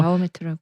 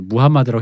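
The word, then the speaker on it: Muhammad: 그 사람의 이름을 섞어서 섞어서 이렇게 했다라고 해서 마호메트라고. 마호멧이라고 하면 약간 조금 좀 불경한 소리고 어쨌든 간에 그래서 무함마드라고 해야 된다는데 어릴 때도 우리가 마호멧 네, 하다 네.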